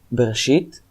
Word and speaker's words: Bereshit: So Bereshit, or in Hebrew pronunciation Bereshit, is it's basically the same. But the R is slightly different between Hebrew and English.